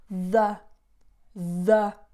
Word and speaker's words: the: house the house specific house and notice the pronunciation is where the schwa the the okay not there or there okay a lot